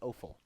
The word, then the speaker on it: offal: Lily tells me it's pronounced offal. I Is thought it it was, but really? I wasn't sure. Okay. It's offal and it smells awful.